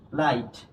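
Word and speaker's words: light: তাহলে দেখো এখানে দেখো এই যে জি টা যে আছে এটা উচ্চারণ হবে না তাহলে হলো কি বলতো লাইট এরপরে দেখো এই যে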